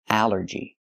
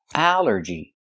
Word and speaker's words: allergy: But here it makes the a sound. The short a like in an apple and black. A allergy. It's three syllables. Allergy. The stress is only first syllable.